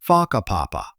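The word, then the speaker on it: Whakapapa: You'll hear locals casually talking about places like Faka Papa, pronounced Faka Papa.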